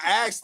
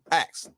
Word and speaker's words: ask: I asked it knowing the answer. Say asked again. Say it. Say ax. Ax. Spell it. ASKED. But you said it. Ax. Ax. AX. And what are you saying? Ask.